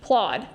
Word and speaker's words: Plaud: It's a It's spelled P L A U D. Plaude.